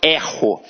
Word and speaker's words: erro: Então aqui, ó, eu erro. Observa que este E tem um som aberto.